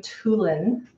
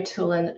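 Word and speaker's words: Toolan: of our alumni, actually, her name is Mary Toulan. It's spelled T-O-O-L-A-N, Mary Toulan.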